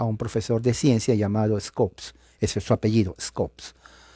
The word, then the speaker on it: Scopes: que se llama el juicio scopes se deletrea scops no se pronuncia la e y trial o sea el